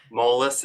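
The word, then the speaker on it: Moelis: I get it right once and for all molus Advan Access program mess okay excellent um and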